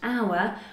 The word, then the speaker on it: hour: Now, half an hour is nothing special, nothing new, but you had half, so a strong H, and hour, which is a silent H.